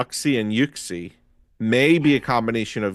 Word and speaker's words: Uxie: Yuxie. Is it Yuxie? Oxy. Yeah. I think I would have said. I think it's Yuxie though because the Japanese have it spelled Yuxie E.